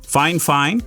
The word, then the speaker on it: FiFine: And just as a disclaimer, fine, fine. Yes, that is the proper way to say it.